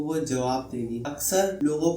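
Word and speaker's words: Ouija: करते हैं जीजी बोर्ड इसकी स्पेलिंग है ओ यू आई जे ए लेकिन प्रोनाउंस इसे वीजी किया जाता है इसे आपने बहुत सी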